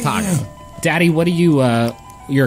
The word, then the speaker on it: Taako: His name is Taco.